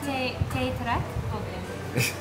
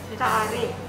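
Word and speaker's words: teh tarik: How do you say it? Teh ta-rack. Teh ta-rik. Ta-rik (x2) Teh ta-rack (x2). Cheers. Teh ta-rik. Ta-rik (x3).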